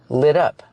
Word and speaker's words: lit up: adjective is lit up we hear the pronation of the T in lit up it sounds like a fast D lit up lit up it's lit